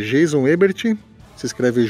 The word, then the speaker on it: Ebert: no Twitter é Jeison Ebert se escreve j e s o n e b e r t não tem h no meu nome tá não é Herbert Herbert não é Jeison Ebert lá no Twitter e